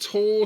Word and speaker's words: Tau: the creation of Taumon, getting its name from Tau, the Greek letter used as a symbol of life and resurrection. It could also be pronounced Tor, so it could be Tormon, just to differentiate